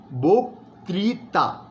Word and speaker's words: বক্তৃতা: বক্তৃ, এই যে এখানে রিকারটা আছে, তাই বলতে হবে বক্তৃতা। বক্তৃতা নয়, বক্তৃতা।